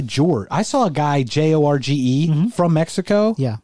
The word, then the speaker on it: Jorge: i saw a guy j-o-r-g-e from mexico yeah pronounce his name george that's it's possible is that a normal thing no because that's not it's jorge it's jorge jorge okay so jose jose